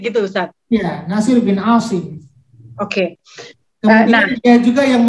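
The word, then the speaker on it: عاصم: Terus muridnya itu Nasir bin Ashir. Dia yang memberikan tanda-tanda dalam titik gitu Ustadz? Ya, Nasir bin Asim.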